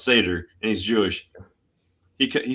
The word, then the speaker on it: Seder: majority report and Sam Sam Cedar which is pronounced Seder and he's Jewish.